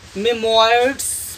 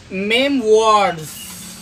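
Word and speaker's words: memoirs: इन तीन शब्दों में देखिए, इसे अधिकांश विद्यार्थीगण मेमोयर्ड्स पढ़ते हैं, या रेपर्टोयरी पढ़ते हैं, या रिजर्वायर पढ़ते हैं, तो ये गलत है प्रोनाउंसिएशन। और इसका जो शुद्ध उच्चारण होगा वह होगा, जैसे इसे पढ़ेंगे हम मेमवॉर्ड्स, मेमवॉर्ड्स मीन्स होता है आत्मकथा, ऑटोबायोग्राफी, मेमवॉर्ड्स।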